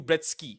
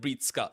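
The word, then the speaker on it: Breetzke: So it's one thing to mispronounce a name. That can happen to anyone, right? Like some people say Matthew Bretsky instead of Breetska.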